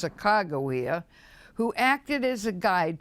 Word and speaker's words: Sacagawea: Those of us who grew up in Oregon, well, we know the stories and the legends of Sacagawea, by the way, correctly pronounced Sacagawea, who acted as a guide to Lewis and Clark as they first explored the Great Northwest.